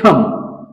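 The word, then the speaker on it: thumb: चला पुढचा जो शब्द आहे तो म्हणजे थंब थंब मध्ये बी हा लेटर सायलेंट येताना दिसत आहे आणि त्याच्यानंतर आहे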